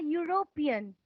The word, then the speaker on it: European: is rounding so we use an and a European I did not say he said you rope